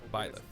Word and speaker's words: Byleth: So, How do you this even is our pronounce new that fighter, name? Byleth.